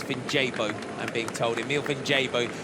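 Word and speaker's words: Vinjebo: I will always take a pronunciation correction, and it's Vinjabo.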